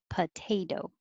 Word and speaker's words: potato: Second one, potato. So the second T sounds like a D, potato.